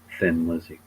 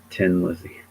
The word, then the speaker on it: Thin Lizzy: also funnier how um most Americans say Thin Lizzy because it's not actually how you pronounce the name of of that man it's Tin Lizzy did you know that